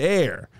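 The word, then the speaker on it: Aer: But you want to go the A-E-R. It's pronounced the air.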